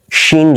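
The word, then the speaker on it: سين: গিয়ে লাগবে আপনার এটা সিন জবর সাটা সিন দাঁতের নিচের অংশে দাঁতের নিচের অংশে সিন এবং অ্যালভিউলার রিজের উচ্চারণটা হচ্ছে সিন জবর সা কিন্তু এটা প্যালাটাল অংশে শক্ত অংশে অ্যালভেলার রিজের পেছন দিকে অ্যালভেলার রিজ বলতে বুঝাচ্ছি এই যে এব্রো থেব্রো জায়গাটা আছে হ্যাঁ এই জায়গার পেছনের অংশটা হচ্ছে প্যালাটাল ওই অংশে গিয়ে জিহ্বার লেগে থাকবে শিন আর এটা ছিল সিন তাহলে দুইটা হচ্ছে কি সা একটা সা একটা ঠিক আছে আশা করি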